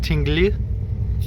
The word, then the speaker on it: Tinglev: Anyways, it's pronounced Tingli.